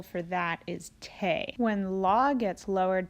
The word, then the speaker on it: Te: ends with an E the new solfege syllables end with the letter e which makes the sound a so T became teh LA became lait soul became say me became May and Ray which is